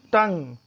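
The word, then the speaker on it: tongue: And next is टंग, टी ओ एन जी यू ई। अब यहाँ पे देखिए यू ई आया है, यू का उच्चारण नहीं होगा, यू साइलेंट में आएगा।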